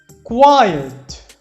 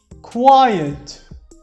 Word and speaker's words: quiet: اللي بعديها quiet quiet quiet يعني هادئ أو يعني مش تسمع له صوت.